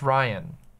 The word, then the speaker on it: Rian: I think it's pronounced Ryan.